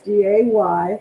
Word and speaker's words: Dai: The business is D-A-Y. It's pronounced D-A-Y. It's spelled D-A-I.